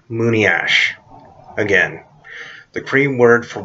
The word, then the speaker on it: monias: for white man is Moony ash it's not pronounced Moony as I liked how some people bounce it it's pronounced Moony ash again the cream word for white man is Moony ash